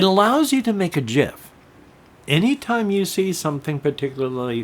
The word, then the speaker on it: GIF: GIF Creator and yes I pronounce it gif because the Creator from The Commons of the source code he called it Jeff and since that's the way I heard it growing up that's the way